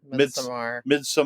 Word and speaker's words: Midsommar: You know, because, you know, Midsommar, you know, or Midsommar, I always feel weird saying that. Midsommar. That's how Ari Aster says it.